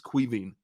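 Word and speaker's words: Caoimhín: you pronounce his name he told me it's cuiving queen don't think you know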